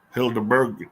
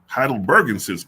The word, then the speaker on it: heidelbergensis: Hildeberg, how you pronounce that? Let me see. How you pronounce that? If there's a pronunciation for that on here. There is. Heidelbergensis.